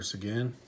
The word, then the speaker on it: Seguin: Tyler Seguin.